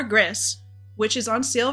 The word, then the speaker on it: Gris: name of the game is gree how I would pronounce it in Spanish or GIS which is on sale